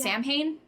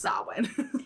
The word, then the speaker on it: Samhain: The next is Samhain, which is pronounced Samhain. Spelled. Yes, it's spelled Samhain. Spelled Samhain, pronounced Samhain.